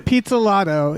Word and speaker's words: Pizzolatto: Pizzolatto.